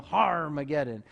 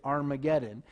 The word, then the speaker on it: Armageddon: It would just kind of be like a pirate, "Har!" You know, "Har-mageddon."